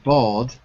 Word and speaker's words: bald: sound fall fall exactly so fall and bald in neither case do we say the L now this document says